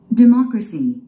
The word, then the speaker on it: democracy: Democracy. Democracy. 이음절에 스트레스가 있죠. Democracy. 우리 한국인들은요, 이걸 데모크라시라고 합니다. 데모. 데모하다. 데모. 이음절에 스트레스 있으니까 D는 짧게 발음하시고 마. 이음절에 스트레스를 주기 바랍니다.